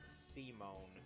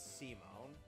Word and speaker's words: Simon: It's spelled Simon. It's pronounced Simone.